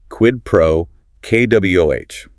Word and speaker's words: quid pro quo: Yeah, quid pro, KWOH. Stress on the first and last words, quid pro, KWOH.